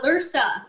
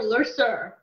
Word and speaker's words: Lursa: He said the same thing to Lursa. He called her Lurser in Generations. And I was like, why did he say it wrong?